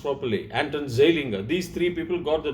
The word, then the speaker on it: Anton Zeilinger: If his words have to be pronounced properly, Anton Zeilinger.